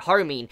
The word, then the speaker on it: Harumin: all that, and eventually, Harumin, that's how you say it, Harumin, she was sitting there, like, on the computer, and she looks around like, what are you reading?